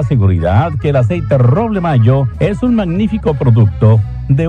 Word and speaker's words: Mallo: Para decirles, aquí donde canta el gallo está Laboratorios Mayo. Y Mayo se escribe como gallo. L-L-O, Laboratorios Mayo.